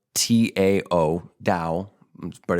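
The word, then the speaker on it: Tao: Daoism spelled ta AO Dao but it's pronounced with a D um in dosm I've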